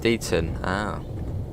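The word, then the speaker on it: Deighton: so it's quite slow it's pronounced deaton yeah we should uh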